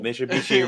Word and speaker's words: Mitsubishi: Mitsubishi rhymes with pretty.